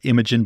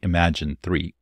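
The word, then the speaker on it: Imagen: announced was imagine 3 I used to pronounce it imag but I think internally they say imagine 3 it's their highest quality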